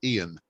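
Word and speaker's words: Eoin: also in Scotland um a lot of people have the um the Irish spelling of the name but they pronounce it Ian uh so I'm not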